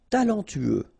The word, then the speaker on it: talentueux: Talentueux. Final X not pronounced. Then you get this U together. Then TU. Tueux.